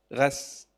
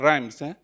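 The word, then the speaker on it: Reims: How to pronounce Strasburg? Yeah. N R E I M S. Ras. Yeah. It's not rhymes confirm this is yeah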